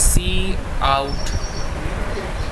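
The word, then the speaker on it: cout: of a program here this is pronounced as c out as you can see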